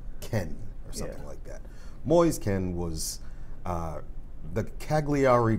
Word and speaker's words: Kean: just keen yeah well it looks like keen but it's like Ken boys can was that Cagliari crowd racially taunted ventus's 19 year old forward boys Ken yeah when he scored